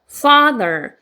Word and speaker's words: father: 그래서 father, fa에 강세 있기 때문에 fa에 세게 넣어주시면 돼요.